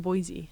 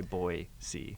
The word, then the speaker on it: Boise: yeah used to be it's not Boise yeah Boise they have like shirts uh I like a lot of the shops down there that say boy see I have never known